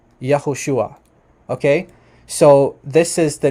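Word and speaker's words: יהושע: d-dot says here that the classical pronunciation which means like the pre-exilic name of of yeshua is actually yahushua yahushua okay so this is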